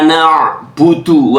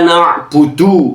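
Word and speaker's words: نعبد: Ayat kelima, Iyyaka na'budu wa iyyaka nasta'in. Bukan iyyaka na'budu ya. Bukan iyyaka na'budu, tapi iyyaka na'budu, bahasa tenggorokan ain.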